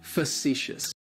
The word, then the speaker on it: facetious: describes him is is facetious facetious facetious has three syllables and the stresses on that second syllable it's like you're just saying the letter c and that first syllable has that schwa that uh facetious facetious